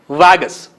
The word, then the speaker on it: Vargas: in avenida presidente vargas here r is silent we should pronounce it vagus let us read and